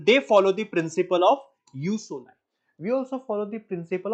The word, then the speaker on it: jus soli: One is jus soli. This is referred to as or pronounced as you, not juice.